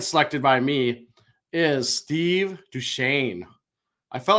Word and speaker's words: Duchesne: looking at our notes I don't know how the heck you get duchan out of how his name is spelled d u c h e s NE e it's should be like Dutch esny well this is one